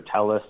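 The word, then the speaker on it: Telles: a guy named Rob Tejas or Tellis. So he has 2 pronunciations of that name, but I think it's Tejas is the one that he uses most often.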